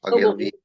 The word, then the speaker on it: Ogilvy: How do you pronounce his name? Ogilvy.